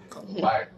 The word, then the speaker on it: copaiba: Copaiba, did I pronounce that correctly? Yes, you did. Copaiba.